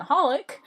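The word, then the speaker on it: xxxHOLiC: anime holic uh yeah you don't pronounce the x's they're just there i am unfortunately a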